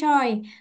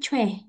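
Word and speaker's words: 최: Dan bacanya bukan choi. Tulisannya kayak gini, tapi bacanya bukan choi tapi chue. Chue. Chue. Karena ini bacanya adalah W. W kayak orang Indonesia biasa W gitu ya.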